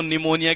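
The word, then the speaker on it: pneumonia: है निमोनिया अब देखो निमोनिया के अंदर साइलेंट पुरी तरीके से राहत है और एग्जाम में क्या करता पिक को हटा देता है ये बच्चे को भी लगता है निमोनिया में पी कहां गया लेकिन आपको कैसे याद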